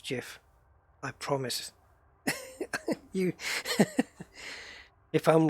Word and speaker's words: GIF: a simple Google away the correct pronunciation is not gif sorry I know it it probably should be it probably should be gift because the the G stands for graphics which is a which is a girl so it in effect it should be but if he invented the format and he says I want to pronounced like this then what can you do what can you do